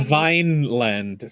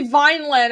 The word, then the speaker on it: Vinland: know you're thrown into this it's Phil it's pronounced Vine Vine land Saga oh it's like a land yeah just say Vine land I'll only have half an aneurism instead of